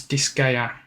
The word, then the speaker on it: Disgaea: We've got, oh, I'm gonna struggle trying to pronounce this one. I believe it is Disgaea.